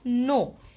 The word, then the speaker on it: know: যাই হোক, তো নো, KNOW, কের উচ্চারণ কিন্তু হচ্ছে না, নো।